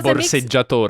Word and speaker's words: borseggiatore: We say "borseggiatore" (pickpocket) in Italian by the way.